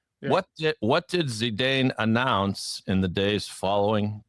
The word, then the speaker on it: Zidane: French player, how do you pronounce his name? Zedin Zidane.